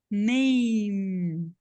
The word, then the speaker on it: name: Na fala, esse E tá aqui para me dizer que o A tem som de EI, só para isso. Mas ele não tem um som aqui, é uma sílaba só, name. Acabou no M, name.